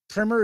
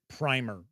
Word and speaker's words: primer: Smith is pointing out I believe most people will pronounce it primer like primary. So they'll pronounce it that way. Uh outside the US I always hear it called primmer.